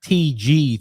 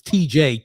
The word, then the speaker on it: TJ: not TG. Thank you very much. It's TJ. Two letters.